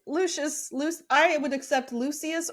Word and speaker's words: Lucius: my pronunciation of Lucian it's not Lucian it's Lucius Luc I would accept